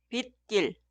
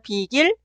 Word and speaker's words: 빗길: La última palabra es la combinación de 비 y 길. Se pronuncia 빗길 o 빗길. Ya que la palabra posterior 길 suena 길, en la palabra anterior 비 debe agregar 사이시옷. Escribir y pronunciar 비길 son incorrectos.